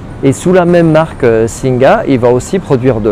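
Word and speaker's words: สิงห์: Parce que ce Singha ne se prononce pas Singha, mais se prononce Sing sans le A final.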